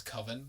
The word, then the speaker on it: Coven: And the movie's about him making his movie, Coven, but it's spelled Coven, but he pronounces it as Coven because he's like, it sounds too much like oven.